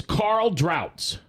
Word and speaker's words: Carl Drautz: our special guest is Carl droughts did I say it right you said it right Mack that is German isn't it it is it is German absolutely and uh Carl